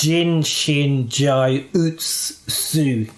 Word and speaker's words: Jin Shin Jyutsu: And it's actually pronounced Jin Shin Jyutsu.